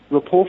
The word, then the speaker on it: rapport: The word rapport is of French origin, and the final T in the word is not pronounced.